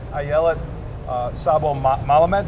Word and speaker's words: Ayelet Szabo-Melamed: But I'm here this morning with Ayelet Szabo-Melamed. Did I pronounce that right?